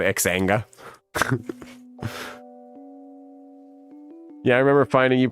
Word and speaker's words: Xanga: back in the day it was spelled like x a n g I guess you pronounce it zanga we always just called xanga yeah I remember finding